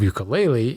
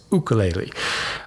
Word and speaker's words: ukulele: was there for one the true Hawaiian pronunciation of ukulele is to is to use the starting sound of O as in spook instead of the hard u sound in other words ukulele um Matt I appreciate